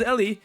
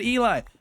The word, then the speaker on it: Ely: I said my name is Ellie, and he was like, no, your name is spelled like this. It should be said Eli. And then I was like, you assume that English is the only language.